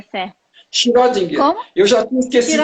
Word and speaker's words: Schrödinger: Eu já esqueci como é a pronúncia certa. Schrödinger.